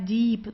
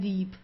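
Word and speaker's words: Dieb: Uh also the B it's not pronounced very strong. So it's not deep or so. It's deep. Sounds more like a P at the end.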